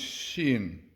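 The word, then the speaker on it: שין: The letter Shin, in its softer pronouncement, as he said, is pronounced Shin. Yeah, Shin. Shin, like shine, like Shin, to do with light, definitely.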